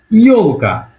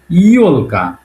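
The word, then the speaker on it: ёлка: সেটা হল ইল কা ইলকা এটার সঠিক উচ্চারণ হল ইলকা ইলকা ইলকা মানে একচুি ক্রিসমাস ট্রি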